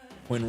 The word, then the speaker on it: Quinn: Quinn rhymes with win.